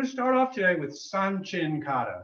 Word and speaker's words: Sanchin: so we're going to start off today with sun chin kata sun chin is spelled s-a-n-c-h-i-n and it's one of the ishin